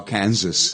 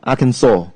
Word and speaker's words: Arkansas: how to say this I used to say uh Kansas okay I think many people do yeah but actually it's very strange Arkansas yeah Arkansas really yeah Arkansas and the stress is